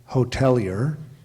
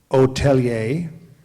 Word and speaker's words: hotelier: there any alternate pronunciations yes there are primary pronunciation again hotelier secondary there are two other pronunciations hotelier aier okay uh hotelier h o t e